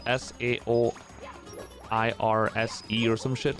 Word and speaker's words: Saoirse: S-A-O-I-R-S-E, yeah. How do you pronounce that one?